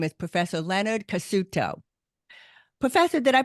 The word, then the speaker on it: Cassuto: York City and his name is Professor Leonard cuto Professor did I pronounce that right you bet okay yay yeah